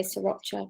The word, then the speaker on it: sriracha: So if you were saying it authentically, apparently you'd say sriracha, but I'd say sriracha chili. So but let's go with the darker of the 2 first.